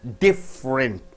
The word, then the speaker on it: different: So different.